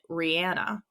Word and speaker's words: Rihanna: and she says it Rhianna. If you hear her say her own name, she says Rhianna, and like where she's from, like they all say Rhianna, not Rhianna.